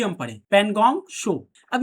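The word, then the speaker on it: Pangong Tso: यहां एक झील है जिसका नाम है पनगोंग शो। पनगोंग शो। ये टी जो है ना टी यहां पे साइलेंट होता है। इसीलिए एस ओ शो ही हम पढ़े। पनगोंग शो।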